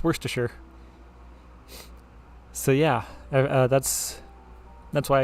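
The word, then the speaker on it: Wriothesley: my character's name and it's pretty simple awkward pause it's worst to sure so yeah that's that's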